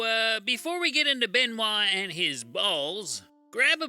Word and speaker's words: Benoit: of professional wrestler Chris Benoit it's pronounced like that because he's French it sounds like the